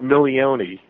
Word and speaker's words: Milione: it's uh yeah you pronounce it million million okay gotcha close enough well